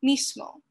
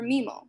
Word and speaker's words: mismo: So for example, the word mismo can be pronounced just as I did with a strong S sound, mismo, but can also be pronounced more like mismo or mimo with the reduced and deleted forms respectively.